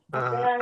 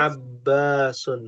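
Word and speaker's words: عَبَّاسٌ: Abbasun, Abasun. Abbasun. Baknya tasydid ya.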